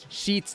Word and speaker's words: Scheetz: going on everybody that was tonight's guest sheets junor junor my name's this is hard